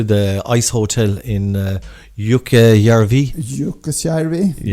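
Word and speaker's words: Jukkasjärvi: But yeah, the Kirin sculption and stuff that links up to the ice hotel in uh Yuka Yarvi. Yuka. That's right. Very nice pronunciation.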